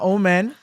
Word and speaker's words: Oman: Um they they from your mom is from Omen. Yes. Yeah. Okay. I said it right. Right. Sorry. Uh Omen.